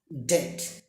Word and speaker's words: debt: Next ডেট, DEBT, ডেট। Next আমরা চলে যাচ্ছি কে সাইলেন্ট।